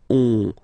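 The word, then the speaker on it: onze: So O plus N give you the sound on, 11, 11, okay? Final E doesn't exist phonetically, 11, okay?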